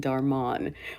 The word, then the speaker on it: Dharmann: and um on Dar I've never called Darman darmon which apparently is another pronunciation of his name I think Katherine calls